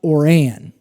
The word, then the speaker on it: Oran: said and it was the gal said it is pronounced or an so thank you very